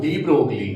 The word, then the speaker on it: de Broglie: अब एक साइंटिस्ट था डी ब्रोगली, है ना। उसने ये, वैसे तो ब्रोगली कुछ भी बोल सकते हैं, पर इसको जनरली प्रोनाउंस किया जाता है डी ब्रोगे, ठीक है ना।